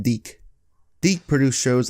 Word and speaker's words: DIC: one of the biggest producers of cartoons was dick dick was huge in the 80s and 90s and all the kids just it's it's pronounced deke deke produced shows like Inspector Gadget mask the